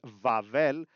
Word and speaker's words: Babel: Control C, Control V is the prefix for all the Babel related commands, and V is if you pronounced Babel the way you would in Greek as Vavel, and thus V would make perfect sense.